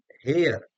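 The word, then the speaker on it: heir: अब कई बार H silent होता है। एच वैसे तो आपका कॉन्सोनेंट है लेकिन साइलेंट है। आवर, ए uh were, our में है तो एन लगेगा। ओनेस्ट ऐसे स्टार्ट हो रहा है।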